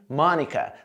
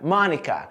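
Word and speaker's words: Monica: é o da personagem mônica da série friends olha só com os personagens pronunciam o nome dela marca marca marca marca mônica mônica mônica a letra o' e mônica só quase com um a má mônica mônica lembrando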